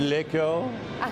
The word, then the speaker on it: LaCour: Isn't it LaCour? I believe the pronunciation is LaCour.